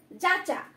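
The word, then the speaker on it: যাচ্ঞা: উচ্চারণটা কি? যাচ্চা।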